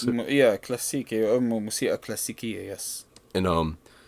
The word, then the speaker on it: كلاسيكي: I believe it was like Klasiki. Is that how you pronounce it? Yeah, كلاسيكي.